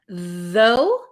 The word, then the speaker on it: though: though. Though has a vocalized th though. And thorough does not.